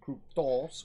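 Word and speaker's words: κρυπτός: The word hidden is the Greek word kryptos, or kryptos with the accent on the omicron, which means that which is concealed and private.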